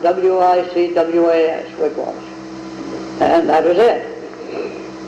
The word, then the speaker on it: Wicwas: He said, we'll name it Wicwas Grange, at Wicwas Lake.